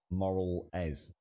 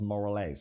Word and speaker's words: Morales: I've always pronounced it as more or less. More or less. Miles Morales. Moral Ez. Yeah, that don't help, Bob. Moral Ez. It's Miles Morales.